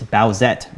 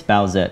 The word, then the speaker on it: Bowsette: It's Bowsette, by the way. That's how you say it. It's Bowsette, and we'll talk more about it once we talk about this week's project.